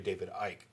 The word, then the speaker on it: David Icke: But, you know, last week I said that it was David Icke.